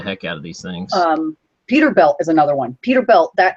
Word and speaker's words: Peterbilt: It was always, it wasn't spelled like Bilt, B-U-I-L-T. It was Peter and then Bilt, B-I-L-T.